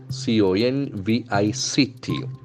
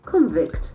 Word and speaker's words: convict: we check its pronunciation convict convict that is the property of a verb and noun in terms of the Sounds in the case of a noun the accent will be in the first syllable whereas in the case